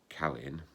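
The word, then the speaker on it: Caelin: next one was about c-y-n-e-b-i-l then there's c-a-e-l-i-n callin and the last one pronounced spelt c-e-a-d-d-a chadda or more usually chad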